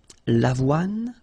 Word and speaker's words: avoine: Remember, don't insist on the final E. L'avoine.